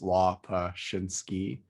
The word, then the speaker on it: Lopushinsky: pronounce my last name it's la paschinsky i've heard you know pretty much every wrong pronunciation under the sun but that's the way